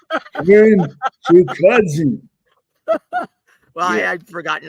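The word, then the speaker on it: Chukhadzhian: It's Karen Chukadzian. Well, I had forgotten how to spell it, so I put Chewbacca.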